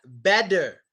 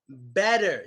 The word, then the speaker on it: better: Better. Better. Yes. You spelled it the best way, Lihana. Better. Yes. We pronounce two T's a lot and it gets the D sound.